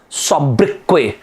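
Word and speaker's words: sobriquet: in one of the exams they asked thus pronunciation of the word subbrickway s-o-b-r-i-q-u-e-t not in your exam in some other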